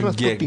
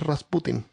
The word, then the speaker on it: Rasputin: Mira, el nombre en español es Rasputin, Greg. con acento en la in. Y el nombre en ruso es Rasputin.